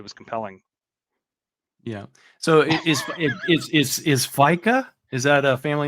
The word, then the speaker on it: fika: it pronounced FICA or is it FICA or is it what does it say back there? The pronunciation is here. Yeah, but I can't see that. It's Fika, but it doesn't matter.